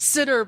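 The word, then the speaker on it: Synnar: mhm what's his name I hate Comic Book pronounced sitter but it is spelled s y n n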